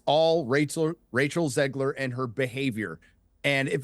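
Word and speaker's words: Zegler: fact that Rachel Zan is it zler or Ziggler by the way I think it's zler zler I think it's how you pronounce it it's zler right let's just clarify that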